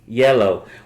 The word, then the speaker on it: IELLO: Yellow. What? I know it looks like IELLO, but it's pronounced yellow.